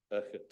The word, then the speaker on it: Urquhart: Oh, right, It's not Urquhart. There's no Q involved, although it's in there. It's Urquhart. Urquhart, Urquhart. Yeah. An Englishman's pronunciation is Urquhart. Urquhart. Yeah. Mr. Scotsman. Fraser Urquhart. Scotsman says Urquhart, but there we are.